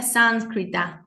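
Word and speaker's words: संस्कृत: llama o se escribe o se pronuncia sánscrita sánscrita sánscrita e esta este sonido acá se llama anusara pero se pronuncia como una n y esta r acá es una vocal la re re es como una R con una pequeña I y llevando lápice de la lengua hacia el cerebro r sánscrita sánscrita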